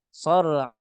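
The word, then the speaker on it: صرعى: Nah, kata mendengar murid-murid beliau bacanya fataral qawma fiha sar'a ka'annahum. Nah, salah. Harusnya sar'a ka'annahum karena mamnu' sarf enggak bisa ditanwinkan.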